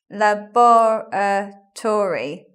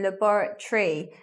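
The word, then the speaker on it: laboratory: at the buret tree in this words lebar Tori five syllables but we don't say like that we say libera tree words with T o ry on them we're not saying Tori like the political party we leave it so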